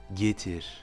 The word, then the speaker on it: getir: On dira donc getir, getir. Vous voyez que le R est très légèrement roulé, même presque comme un léger sifflement, getir.